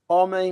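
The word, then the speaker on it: homem: i'd like to highlight is oman omi means men it's a silent h so it's is woman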